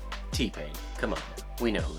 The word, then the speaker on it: T-Pain: P-Tane. T-Pain.